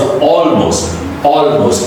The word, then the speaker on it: almost: a light L, and the almost A-L are gelled together and sound like all, okay? Here L is a light L, all is becoming the dark L, even it's in just middle of a word, right? Because there is an A sound in the beginning, and so is an all. All is also coming here, so it's almost, okay?